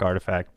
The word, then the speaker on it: RTFKT: nft live let's talk artifact and uh it took me forever to finally figure out how to pronounce it but yes it uh artifact is uh definitely a